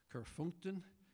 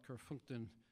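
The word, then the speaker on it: Kerfeunteun: The first one is called A close approximation of the pronunciation is Kerfunkten, and it's not a very Irish sounding name, but it was written by Hamish Hamilton. He's a noted flute maker and flute player from County Cork, and he lived for a time in Brittany in a suburb of Compare, which was called Kerfunkten, only it's pronounced a little differently in the local dialect.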